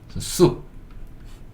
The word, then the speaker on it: soup: 어떻게 읽냐면 S는 시옷이고요. 예. 오유인데 이 오는 묵음이라고 생각하셔도 돼요. 유가 우소리. 그 다음에 피는 피읍. 숲. 숲. 요렇게 읽을 수 있고 숲이 국물 요리인데 국을 숲이라고 해요.